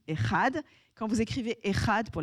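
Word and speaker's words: אחד: raconte en fait l'unité comment se dit 1 en hébreu 1 ça se dit ehad quand vous éccrivez ehad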